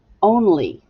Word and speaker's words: only: Ooh, that's tricky because it sounds like E, but it's really Y, baby, E.